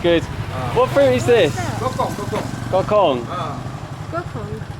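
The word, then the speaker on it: dokong: How do you pronounce it? Gok. D-O. D-O. K-O. K-O. N-G. N-G. Gokong. Gokong.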